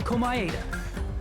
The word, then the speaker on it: Komaeda: was the victim, Nagito Komaeda. Okay, see, I'm not saying it wrong. Because that's how Johnny Young Bosch says it. And we all know he's correct in everything he says.